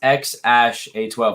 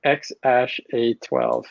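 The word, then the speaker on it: X Æ A-12: e yeah yeah that he pronounces ash so it's x ash a12 like ash ketchum you know yeah yeah so x ash a12 8 to the 12.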